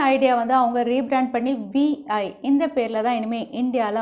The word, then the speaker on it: Vi: S, Vodafone idea வந்து அவங்க rebrand பண்ணி VI இந்த பேரில் தான் இனிமேல் இந்தியாவில் அவங்க வேலை பார்ப்பாங்க அப்படின்னு தெரியுது.